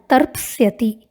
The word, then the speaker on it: तर्प्स्यति: 4 लकार में रूप समान है, लृट लकार में थोड़ा अंतर है, उच्चारण पे ध्यान देंगे। लृट लकार में रूप बनता है तर्प्स्यति, तर्प्स्यति।